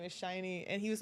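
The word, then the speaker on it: SHINee: I'm known as the Shiny person. People text me about the Shiny members now." Shiny. How do you spell that? Sh I N um Ee. So it looks like Shinny. Okay. But shiny. Yeah.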